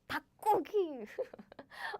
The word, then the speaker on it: 닭고기: Like 닭고기.